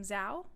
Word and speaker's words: Zhao: But there was some positives from the Oscars, like Chloe, I pronounce her last name Zhao.